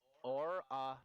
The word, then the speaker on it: Aurinax: Here's how you pronounce his name. Orinox.